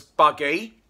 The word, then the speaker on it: Bugg: The newest signing for Witham Town player we got is a prolific striker, George Bugg, which we pronounce as Buggy.